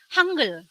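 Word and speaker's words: 한글: Korea disebutnya adalah handle tapi kalau dibaca lafal secara panjang cepetnya hangeul Hangul dibacanya seperti kayak gitu terus tujuan untuk presentasi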